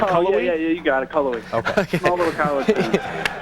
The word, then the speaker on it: Cullowhee: What are we even close in pronouncing the name of your town? Is it Cullowhee? Yeah, you got it, Cullowhee.